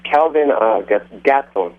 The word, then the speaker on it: Gastelum: I can't pronounce it. Kelvin Gastelum. Yeah, it's Kelvin Gastelum.